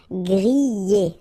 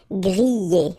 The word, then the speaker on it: griller: We've got so many exceptions, but in most of the cases, you will pronounce it y, y. Okay, griller. That's the reason why. Griller.